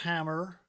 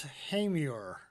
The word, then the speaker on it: Hamer: No, it's not pronounced hammer or hammer. It's Hamer.